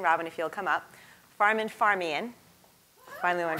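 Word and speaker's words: Farmanfarmaian: Farman Farmian.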